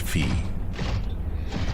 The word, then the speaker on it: Phi: I believe it's pronounced Fee.